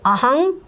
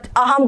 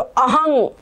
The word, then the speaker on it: अहं: यहाँ पर देखो ये अनुस्वार लिखा हुआ है, ये म नहीं लिखा है, म लिखा होता तो म पढ़ते आप, लेकिन ये अनुस्वार लिखा है ना, तो अनुस्वार अंग अह बोलते हैं। जब हम पढ़ते हैं तो अंग अह अंग, तो ये अंग उसका उच्चारण है, तो अहंग, इसको बोलेंगे अहं गच्छामि। ठीक है, यहाँ पे म नहीं बोलेंगे।